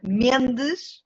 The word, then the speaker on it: Mendes: It's Mendes with a Portuguese accent.